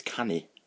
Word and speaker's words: canu: Singing is canu, really. So it's can and C-A-N-U if you see it written down, and that's singing.